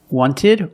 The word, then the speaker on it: wanted: Americans will say 20 wanted or wanted it's more common to hear Americans say wanted you have NT in the middle the t is silent other examples internet internet